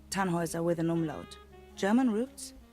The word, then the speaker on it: Tannhauser: what's your name Tannhauser we'd pronounce it tan Wazza with an armload German